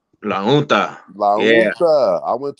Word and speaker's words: La Junta: Oh, and see, look, I went to a school in La Unta. That's how they told me you pronounce it. La Unta. La Junta.